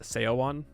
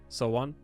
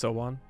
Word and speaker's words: Seowon: It's not pronounced Seowon, you know, Sowon. So it's like the same type of idea. And or no, how does he pronounce it? He says Seiyun. It's not Seiyun. It's Sowon.